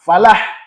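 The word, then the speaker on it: فلاح: " Falah" salah jika diucapkan seperti itu. Karena "falah" tidak menggunakan bunyi ' ha' yang keras. Eh. Atau ta marbuta. Jangan. Ini menggunakan huruf 'ha'. Falah.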